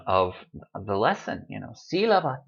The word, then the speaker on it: sílaba: Written accent mark, and when you see that word, oh yes, must pronounce it sílaba.